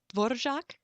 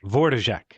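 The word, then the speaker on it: Dvořák: said dvorak love songs and I probably mispronounced dvorak how'd how would you pronounce it right its board of shock so the the r has sort of a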